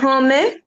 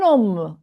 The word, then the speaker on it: homme: Un homme. Un homme. Un homme. H is an H muet, aspiré. It's not pronounced as H.